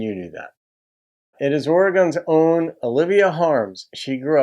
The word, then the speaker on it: Oregon: We hate when people say gone instead of gun. So it's Oregon.